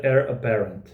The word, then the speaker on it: Eire Apparent: Então a origem do Heir Apparent é Heir Aparente, que escreve-se, mas a pronúncia britânica ao menos é Heir Apparent.